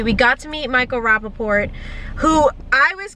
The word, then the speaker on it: Rappaport: You pronounced the motherfucking T. Dad said you didn't. What? You told me in the car, and it's in camera, in footage, you said, he doesn't pronounce the T.